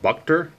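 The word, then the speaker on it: Buchter: inning so lefty Ryan I guess it's pronounced bucked her I almost thought it was butcher at first but it's bucked her i believe his house brown says bucked her he is a lefty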